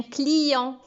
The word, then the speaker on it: client: bep à la fin un client au féminin on dit une cliente avec un thé le repas à un